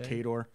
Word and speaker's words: Cador: Cador. There's even a pronunciation guide in the old books.